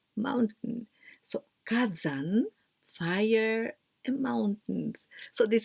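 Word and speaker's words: 火山: Fire and zan, here we pronounce zan, but only this kanji, it is yama, mountain, mountain. So kazan, fire and mountains.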